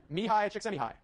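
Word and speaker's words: Mihaly Csikszentmihalyi: Martin Seligman, and then this guy whose name I will now pronounce for you. Mihai Csikszentmihalyi.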